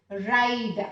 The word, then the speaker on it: ride: Ben is able to ride. Again, look at here. E is silent here. Ride.